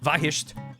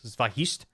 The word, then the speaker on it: Vahist: um this YouTuber/ Speedrunner Vahist. Uh the V ah I sht the second H is silent. Vahist.